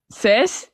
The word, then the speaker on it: seis: Uno, dos, tres, cuatro, cinco, seis, siete.